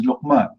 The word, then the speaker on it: Luqman: No, Luqman, if you pronounce it in English, it's going to be Luqman. Luke, like this.